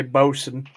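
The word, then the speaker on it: boatswain: medic cook and Boson how to spell that boat since boat Swain yeah thank you because that's how I pronounced I pronounced it how I read it well yeah that's the original one but because British people don't know how to English right they say Boson yep can I see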